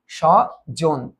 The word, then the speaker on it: স্বজন: senior officer পদে পরীক্ষা স্বজন স এই বফলার উচ্চারণ থাকবে না এটার উচ্চারণ হবে তাল্য সের তার মানে এটা হচ্ছে না এটা হচ্ছে না সজন এটা হবেসার এরপর দেখতো